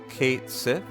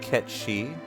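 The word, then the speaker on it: Cait Sith: They did put the pronunciation to rest, right? Kate Sith, not Ket-Shi.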